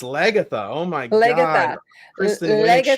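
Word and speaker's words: Lagertha: Jesus, no, it's not Lagerta. It's Lagatha.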